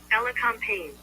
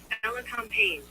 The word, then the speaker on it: elecampane: Unless Wikishot and I already put the prophetic pronunciation. What is it? Phonetics in the chat. Let me see. Elacampane. This is a pretty plant though. Let's see how Google says. Elecampane.